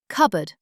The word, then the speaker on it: cupboard: Cupboard. 7 letters. Cupboard sounds like cupboard.